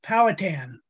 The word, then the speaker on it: Powhatan: the beginning you know not to correct you the pronunciation but it's powhatan i grew up probably